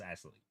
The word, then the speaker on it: Ixtelli: Ixtelli, yes, it's pronounced Ixtelli.